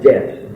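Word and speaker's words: debt: There's no such thing as a silent letter, except when you get the letter like det, D-E-B-T, and maybe at one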